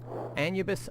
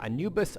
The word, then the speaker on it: Anubis: your animal magic okay anubis or anubis unleashed because you can pronounce it either way move your current bid